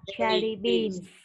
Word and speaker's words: jelly beans: Con nhớ đọc có S cho cô ha. Jelly beans.